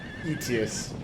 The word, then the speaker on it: Aetius: Aetius, that's how you pronounce his name.